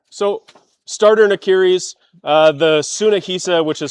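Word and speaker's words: Tsunehisa: So, starter Niris, uh, the Sunnaisa, which is spelled T S U N E H I S A, has lots of great options, lots of great deals.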